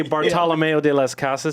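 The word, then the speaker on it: Bartolomé de las Casas: I'll say Bartolomeo de las Casas. That's how you say it.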